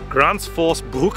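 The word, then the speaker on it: Gränsfors Bruk: This is a Gransfors Bruk axe. Or, if you were to pronounce it correctly, Gransfors Bruk axe.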